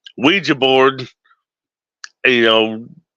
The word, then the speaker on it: Ouija: Ouija I'm I'm G pronounce it the way it needs to be pronounced not Ouiji it's Ouija Ouija board you know it's